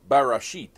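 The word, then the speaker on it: בראשית: But these words are translated from a single Hebrew word that is pronounced barashit.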